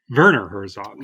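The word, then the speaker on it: Werner Herzog: Johnson as wner Herzog Verner Herzog Vera as pronouncing we yeah we got to do that Germanic pronunciation Vera hell flawless flawless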